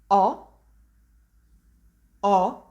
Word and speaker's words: ho: word oh you can hear is totally silent no h not strange sound in here not at all just a plane oh sound so whenever you see this word you know you have to pronounce o with an open o sound and this is actually